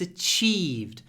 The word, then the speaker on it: achieved: the stressed syllable but here the second syllable is stressed so connected speech haven't achieved hav achieved and the pause is actually before the cha hav achieved haven't achieved